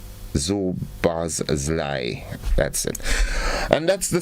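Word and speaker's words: Szoboszlai: Now, I want to know, how do you expect someone like, in our region to pronounce this name? Zobozlai. Zobozlai.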